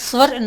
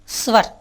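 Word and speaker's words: स्वर: இதுக்கு ஹிந்தியில் பாருங்கள் ஸ்வர்ன்னு சொல்கிறோம். ஸ்வர் இஸ் வா ரா. ஹிந்தியில் எப்படின்னு கேட்டிங்கன்னா கடைசி குறில் எழுத்து மேலெழுத்து மாதிரி உச்சரிக்கணும். ஸ்வர். ஸ்வரன்னு சொல்லக்கூடாது, அது சமஸ்கிருதத்தில் அப்படி சொல்லலாம். ஆனால் ஹிந்தியில் ஸ்வர்.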